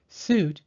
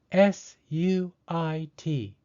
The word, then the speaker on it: suit: to buy a house suit is spelled sui T because you and I are both vowels the second vowel I is silent and the first vowel U takes the long ooh sound suit right I am going